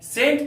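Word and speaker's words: scent: के बाद सी है इस सी का उच्चारण नहीं किया जाता है सेंट का अर्थ होता है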